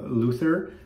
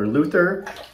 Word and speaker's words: Lothur: The word is of Danish origin, and he doesn't care whether you call it Lothur or Lothur, but I think in Danish, the O is pronounced like an O, so it's Lothur, and so that's what I will call it.